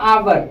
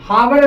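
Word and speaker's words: hour: कितना आवर आवर सर ये जो एच है ना एच एच दिख रहे हैं इसका साउंड नहीं आ रहा है इसको हम पढ़ते हैं आवर आ आ रहा है हावर नहीं बोलते इसको बोलते हैं आ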